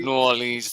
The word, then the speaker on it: New Orleans: New Orleans.